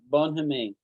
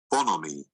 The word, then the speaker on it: bonhomie: Bonhomie. Bonhomie. Bonhomie. The H is silent.